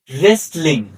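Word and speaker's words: wrestling: Night যার অর্থ অশ number two ডবলিউ এর পরে এইচ অথবা আর থাকলে ডবলিউ উচ্চারণ হয় না। এক্সাম্পল রেসলিং অর্থাৎ ডবলিউ উচ্চারিত হয়নি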